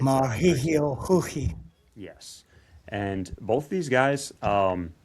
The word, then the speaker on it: Mauricio Ruffy: Tyler, for your awareness, Brazil, or I guess Portuguese, the R is pronounced as an H. So it's Brazil. Mahihio Huhi.